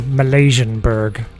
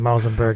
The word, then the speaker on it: Malzenberg: I always remember like some random guy years ago called me Malaysianberg. That's got to be like the best mispronunciation of Malzenberg ever.